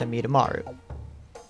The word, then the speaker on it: Amidamaru: And yes, I know that's how you pronounce it because I did watch the show. It's Amidamaru.